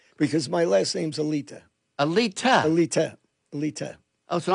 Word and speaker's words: Alite: So I say it three different ways myself still, but the real pronunciation is Alita.